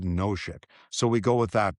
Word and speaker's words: Nosek: But I remember from Thomas, Nosek wanted Noshik.